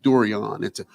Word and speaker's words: Dorian: Please make sure it's Dorian Morgan. Ask my mom. She and my sister, one of my 4 sisters, are the only ones that say it properly. Dorian, it's an O.